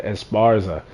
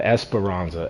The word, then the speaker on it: Esparza: We also had this guy Jordan Esparza. I've been calling him Espironza adding extra syllables to his name when it we don't need to be doing that.